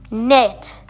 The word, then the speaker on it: knit: in this one but there's a silent k it's only n not KN Nu plus it equals knit knitting is basically a